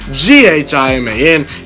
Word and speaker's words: Ghiman: It's your boy, Ghiman. Ghiman is how you say and spell my name.